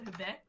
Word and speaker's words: BACZ: My Twitch- Oh, nobody would know me because I keep changing my Twitch name, but my Twitch is BACZ, so Becz.